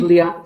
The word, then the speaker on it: Jean Baudrillard: a French sociologist named Jean Baudrillard. I'm not sure if my pronunciation is correct. Jean Baudrillard. Baudrillard, probably. We probably. Baudrillard. Yeah. Usually don't pronounce the D.